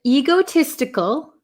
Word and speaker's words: egotistical: selfish reasons okay and egotistical egotistical um I have a lot of students in Japan that say ego egotistical um it's a long e sound e egotistical egotistical egotistical is a